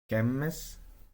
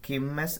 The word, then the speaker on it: Kemmes: Útos, métek, skútos, tiamas or tia, kemmes, stekat, meraogguu. Something has to be mentioned. Kemmes and stekat are sometimes pronounced kimmes and stekat because a lot of times long vowels, long e shifts to e, and stressed e also shifts to e.